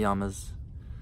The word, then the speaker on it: yamas: yamas, still in the yamas. I keep saying it wrong. It's not yamas. Yamas. Yama, yama, yama, yama, yama. It's actually yamas. Short A.